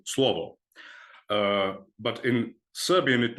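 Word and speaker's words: слово: Russian New Brunswick but in Serbian you pronounce it slovo uh but in Serbian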